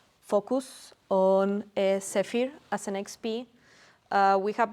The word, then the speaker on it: Zephyr: How do you pronounce it properly? Zephyr.